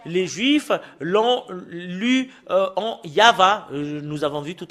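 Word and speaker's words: יהוה: Et le fait de le lire selon la Sainte Écriture hébreu, c'est Yava qu'on le prononce. Et vous ne pouvez pas faire une discussion et le contredire que c'est Yava.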